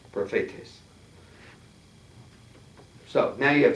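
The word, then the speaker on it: προφήτης: Prophetes. Should be emphasis on the middle syllable. Prophetes.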